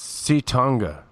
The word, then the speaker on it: Ci'tonga: So it's Ci'tonga, right?